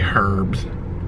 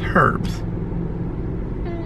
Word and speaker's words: herbs: herbs she doesn't like when i say herbs that's how it's spelled i don't know i don't know what other language has silent letters but yeah it's herbs this is like a